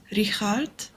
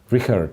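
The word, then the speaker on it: Richárd: Oh, someone mentioned that Richard Rapport's name is pronounced Richard. Richard, Is it Richard? Yeah, it's got to be Richard, because I believe in Hungarian you have different ways of reading some letters and then pronouncing therefore, right?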